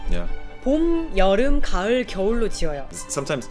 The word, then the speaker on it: 봄: Spring, 봄. just one syllable.